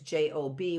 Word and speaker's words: Job: I think that the book of Job, I do think that it's interesting that we see it's J-O-B, which we say job, but we pronounce it Job.